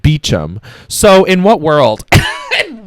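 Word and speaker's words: Beauchamp: the book um so his last name was spelled b e a u c h a m p I was thinking like bamp or something like that um no his pronunciation he says it's pronounced beum so in what world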